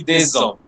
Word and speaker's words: des hommes: And it will be pronounced like a Z. So it will be des hommes.